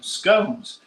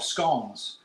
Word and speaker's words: scone: friend's house and I'm taking some scones now or skon so they can be pronounced either way and there's probably a big debate about that but one thing I